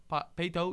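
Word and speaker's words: Paetow: Peyto, yeah, Peyto High School in Katy, Texas.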